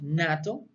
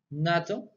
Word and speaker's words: NATO: So when we speak about acronyms, we pronounce as a full word. For example, we have NATO. NATO. So maybe you can say, no, I can pronounce N-A-T-O, no.